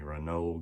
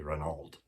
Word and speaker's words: Renault: I think the French company Renault got in, what we'd say Renault. That's how it's spelled.